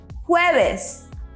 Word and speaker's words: jueves: Did you notice we pronounce the J as if we were saying who, but a little bit stronger? So repeat after me. Jueves.